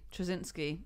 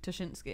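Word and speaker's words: Ptaszynski: A lot of people got quite sad when you evolved from pronouncing it, well, as some people said wrongly, Trzynski to Tuschinski.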